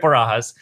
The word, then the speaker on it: Barajas: His name is Erik Barajas, and I pronounced that right?